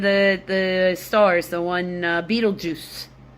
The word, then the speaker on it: Betelgeuse: Uh there one of the the stars, the one Betelgeuse. I'm not kidding, that's its name. It's spelled like Beetle Guys, but you pronounce it like Beetlejuice.